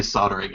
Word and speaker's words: soldering: So, Tim Fortune Mudge just said, I love how you Americans say soldering. I know you say soldering, right? Isn't that right? Soldering, you pronounce the L.